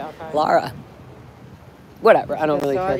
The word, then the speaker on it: Lara: Lara FM. Lara. Lara, not Laura. They laughed.